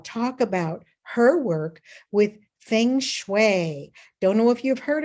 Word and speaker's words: Feng Shui: It's spelled Feng Shui and pronounced Feng Shui like tongue.